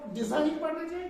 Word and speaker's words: design: इसको डिजाइन पढ़ना चाहिए। डिजाइन नहीं होता, डिजाइन। तो यहाँ पे भी जो है लेटर जी जो है वो साइलेंट है, ठीक है।